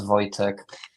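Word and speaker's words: Wojciech: Um, but yes, correct correct pronunciation of my name. My name is Voytech. Uh, to be precise.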